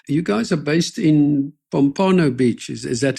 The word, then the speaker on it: Pompano Beach: So you guys are based in Pompano Beach. Is that how you pronounce it? Yeah, it's Pompano Beach.